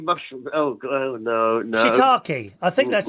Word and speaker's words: shiitake: have a new one called, how do you pronounce it? Shiitake mushroom. Oh, no. Shiitake. I think that's how you say it. Yes. That is an actual mushroom and not a swear word, boys and girls. Shiitake.